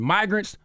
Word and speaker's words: migrants: verbatim ridiculous Rich obviously got crossed up between immigrants short eye and migrants long eye started mispronouncing migrants with